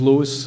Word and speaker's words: Louis: My name is Lewis.